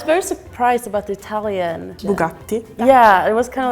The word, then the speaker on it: Bugatti: surprised about the Italian Bugatti yeah it was kind of like a pause and then yeah is it the double te like two T's is two te Bugatti I knew it was